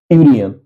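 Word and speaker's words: union: और यहां आप जानते हैं यूनियन है तो ए यूनियन क्योंकि इसका उच्चारण यू होता है यूनियन इसलिए इसके पहले ए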